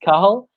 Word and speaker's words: Cathal: like you said and I'm very very good pronunciation there of my name I appreciate that so yeah mine is Carl I'm 24 from Ireland and like Danielle said